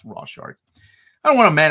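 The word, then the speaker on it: Rorschach: look at it yeah it's pronounced Rock that's right it's pronounced raw shark I don't want a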